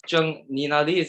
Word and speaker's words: Zheng Ninali: Her name's Schultz, also known as Zheng Ninali. As I'm gonna did I pronounce it right?